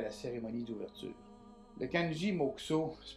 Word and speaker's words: mokusō: Le kanji mokuso se prononce mokuso.